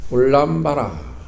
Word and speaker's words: 울람바라: 우람분이라는 것은 울람바라, 이렇게 원어물은 이렇게 발음합니다. 울람바라, 그러니까 거꾸로 매달린 귀신, 그런 뜻입니다.